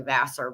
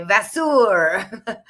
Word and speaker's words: Vasseur: like La Vencedora and Carlene Vasseur, and which is really Vassar, but he likes to say Vasseur.